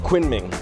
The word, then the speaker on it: Kunming: Guys, I have moved on to the next city and I'm here in Kunming, or I think it's locally pronounced Kunming.